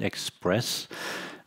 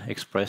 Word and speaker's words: ExpreS2ion: around our technology platform we call it express the reason why we spell it express spelled as an S2 and why we have